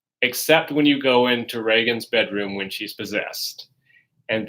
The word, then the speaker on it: Regan: I always want to call her Regan because if you hear some reviews, people will pronounce it as Regan.